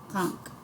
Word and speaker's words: conch: Conch. Pronunciation, conch.